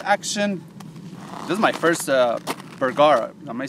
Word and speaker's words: Bergara: This is my first Bergara. Am I saying it right? Bergara, yeah.